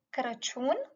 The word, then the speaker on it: Crăciun: You can either say pom de Crăciun, pom de Crăciun, or brad de Crăciun.